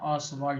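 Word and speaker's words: Ostwald: तो इसी पर बनेगा इस प्रोसेस का नाम है टी साइलेंट है सवल प्रोसेस यह प्रोसेस का नाम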